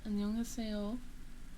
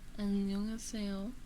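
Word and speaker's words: 안녕하세요: Annyeonghaseyo. Annyeonghaseyo. That's how you say it.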